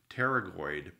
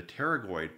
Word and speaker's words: pterygoid: I believe it's pronounced pterygoid process the pterygoid processes are coming down the P silent come down here from